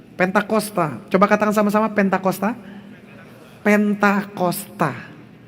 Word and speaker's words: Pentakosta: Pentakosta. yang benarnya adalah Pentakosta, bukan pantosta. Pantekosta itu tidak ada artinya dan pantosta itu tidak ada di Alkitab.